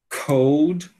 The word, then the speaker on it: cold: Roll, roll, bow, bow, told, told, cold, cold. Então, ó, no caso dessa palavra aqui do dia a dia, né, a gente tem que realizar o l cold, ct road road, né?